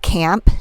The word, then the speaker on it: CAAMP: There's a lot of really great bands, but I was listening to this band Camp. It's spelled CAAMP.